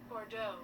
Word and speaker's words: Bordeaux: bundu region let me see how can you pronounce that one bordeaux bordeaux bordeaux that's in french so a bordeaux